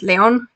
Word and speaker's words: Leon: Leon, because he's French, so his name is Leon, King Leon.